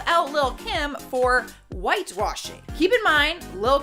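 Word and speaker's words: Lil' Kim: next number nine is Little Kim or Lil Kim I feel like that is the proper way to say it what happened was Danielle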